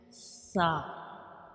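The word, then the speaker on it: ث: And when we pronounce sa, you make sure you don't read it with whistle sound, because this is a soft letter and we read it softly, like sa, sa.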